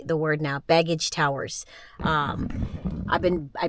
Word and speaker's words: Begich: I know how to say the word now baggage Towers um I've been I butchered it earlier but that is called baggage